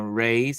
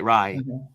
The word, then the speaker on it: Rye: Yes, they've been, and shout out to Native Land podcast, because it is Angela Reyes. I hope I say her name right. Rye, sorry, Rye.